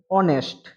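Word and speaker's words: honest: honourable তারপরে কি আছে অনেস্ট অনেস্ট অনেস্ট এর আগে কি বসে এন বসে অনেস্ট অ্যাচ এখানে উচ্চারিত হয় না তাই এর আগে এন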